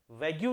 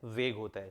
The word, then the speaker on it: vague: इसका प्रोनाउंसिएशन बहुत सारे टीचर्स भी वैग्यू बोलते हैं, वैग्यू नहीं होता है, वेग होता है।